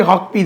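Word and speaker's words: Huckabee: [தொண்டையைச் சரிசெய்தல்] எப்படி கட்டுப்படுத்தணும் இப்ப இப்ப இஸ்ரேலுடைய அமெரிக்க செயலாளர் மைக் ஹார்பி மைக் ஹாக்பி அவர் பேரு சரியான உச்சரிப்பி ஹாக்பி தான்.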